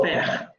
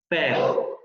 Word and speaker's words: faire: Y lo vamos a encontrar en palabras como faire. Aquí la única estrategia es pronunciar una E, pero tratar de abrir un poco más la boca. Es la misma del inglés como el bed, faire.